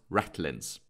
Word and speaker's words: ratlines: These horizontal lines between the shrouds that connects them and forms a ladder are called the ratlines, though it's pronounced ratlins.